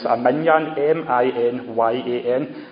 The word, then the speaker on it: minyan: He calls for I don't know how to pronounce it, a minyan, M-I-N-Y-A-N. I keep on wanting to say a minion, but it's not Despicable Me, the wee yellow minions, a minyan.